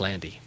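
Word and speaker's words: Lande: I'm sorry l-a-n-d-e yes yes but and it's pronounced Landy correct base synth and you're from Boulder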